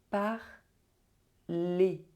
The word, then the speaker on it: parlez: And for this one, you do not pronounce the Z, you pronounce it E.